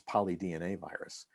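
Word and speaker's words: polydnavirus: releasing these virus particles called polynoviruses which is a way of pronouncing this it's polydna virus so these are within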